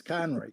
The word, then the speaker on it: Conroy: They can't pronounce. No, thank you. Conroy. You wouldn't be surprised. It's Conroy.